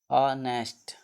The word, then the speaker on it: honest: नेक्स्ट है कुछ words में H का उच्चारण ह न होकर कुछ और होता है।